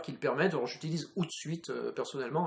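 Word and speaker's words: Hootsuite: le permettent alors j'utilise out suite personnellement alors suite ça s'écrit h o o T et puis suite comme une suite donc un service qui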